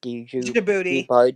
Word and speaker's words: Djibouti: I don't know that djibouti jab. What is say it again? No, it's the D is silent. So it's Djibouti.